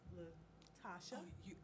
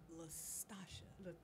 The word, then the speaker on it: Lastasha: I know it's Latasha. Lastasha. Okay, Lastasha. Lastasha. Yeah. Yes, I have to say it like that for you to get it.